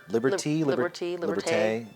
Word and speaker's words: Liberté: Liberté. There's an accento on the E. Liberté. I want to call it Liberté because it sounds like partay.